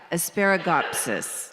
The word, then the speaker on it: Asparagopsis: In Tasmania, they discovered a red seaweed, asparagus gospus. I have a little cheat sheet. Oh, well, it's close, but I'll give you enough that you'll know. He founded something called, Asparagopsis. Now I'm saying it right.